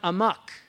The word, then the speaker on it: amok: They run amok, ahmaq. That's a Malay term that got into English, to run amok, because the Malays don't pronounce the H.